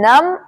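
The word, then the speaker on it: numb: ही होता है तो आपको बोलना है नम नम एंड क्लाइम क्लाइ क्लाइम नॉट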